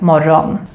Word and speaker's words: morgon: Morgon is the Swedish word for morning, but we normally pronounce it more like morgon.